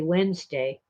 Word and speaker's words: Wednesday: But of course, we just say Wednesday. Why? We dropped the D, it's too hard to pronounce.